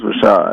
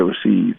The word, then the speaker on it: Rashad: that yes um well my name is Rashad A lot of people say Rashid so it's very hard